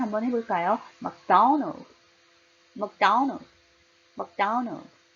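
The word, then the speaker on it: McDonald's: 맥도날드, 맥도날드가 아니라 막 굉장히 작게 해요. 액센 도에 강하게 주고요. 날드 작게 합니다. 연결해서 한번 해볼까요? 맥도날드, 맥도날드, 맥도날드.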